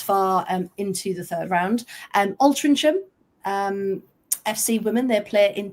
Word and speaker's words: Altrincham: You don't say the ch, no, you go Altrincham.